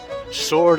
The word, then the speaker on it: Swords: and drizzly here in Sword Island sword spelled with a w getting ready to pack